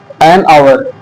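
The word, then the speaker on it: hour: ओ यू आर है, वो हावर नहीं बोलते, उसको आवर बोलते हैं। ठीक है, यहाँ पे एच जो है वो साइलेंट है, एच क्या है आपका, साइलेंट है, तो यहाँ पे एच साइलेंट है, जिसकी वजह से इसको हम आवर बोलते हैं, ए ई आई ओ यू आई ओ।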